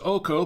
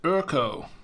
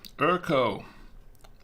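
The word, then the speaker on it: Öko: looks like it says OKO but it's actually pronounced this is German and it's pronounced urko erko or so I have been told so wine made with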